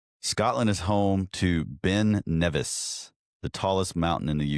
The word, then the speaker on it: Nevis: Nevis, yeah.